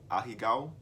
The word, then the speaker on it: ahegao: You should do a tutorial on how to draw the ahegao mouth. I got Google, bro. Google is free. Google is very free. Hold on.